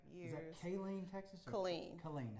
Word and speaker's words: Killeen: Killeen. Killeen. How do you spell it, with a K or a C?